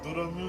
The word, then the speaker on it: Drum: Drum, bah, c'est plus prononciation japonaise. Doromu, ça fait un petit peu draconique comme prénom.